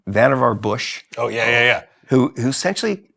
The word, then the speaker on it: Vannevar: It's, I always mispronounce his name. It's Vannevar Bush.